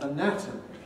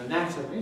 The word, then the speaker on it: anatomy: that with the spelling the letter a at the beginning of anatomy stands for schwa but at the beginning of anatomically it stands for the second letter a in anatomy stands for n but